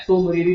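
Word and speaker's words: Tso Moriri: तो तिसोमिरीरी, टी आपका साइलेंट होता है, सोमिरीरी लेक बोला जाता है, ये किससे रिलेटेड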